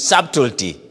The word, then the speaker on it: subtlety: characteristics of deception is subtlety subtlety and subtlety the word is spelled as s-u-b-t-l-e-t-y from the word chateau saltoti of course A B is silent now saturity is the